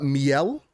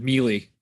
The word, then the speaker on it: Miele: But Laura Miele. That's what I went with. I went with Mealy. So Mealy? yeah. Laura Mealy. I'll say Miele because it kind of makes an E, whatever. Laura Miele, EA's chief studios officer,